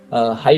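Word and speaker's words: はい: ধরেন হচ্ছে সবচাইতে বেশি ইউজ করে আর কি হাই মানে হ্যাঁ মানে কথা যেটাই শুনুক হাই বলে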